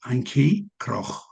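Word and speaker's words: Antjie Krog: I'll pronounce the the name in in Africans. Her name is Anki Cro.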